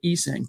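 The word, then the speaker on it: Essang: By the way, he pronounces it Esang, but nevertheless, thanks for everything, Bassi.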